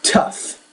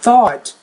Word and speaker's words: tough: top, tall, thought, cup, No, that's tough. T-O-U-G-H, tough, not thought. Remember in lesson 7 you thought the one word was thought. It's though, because it doesn't end in a T. In this case, there's no TH, it's just tough, tough.